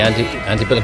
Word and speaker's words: Antebellum: And we're here to see Lady Antebellum. Just like driving on. Charles, David, Henry. Lady Antebellum. Got to check the pronunciation. Okay. Antebellum. Yeah, you got it.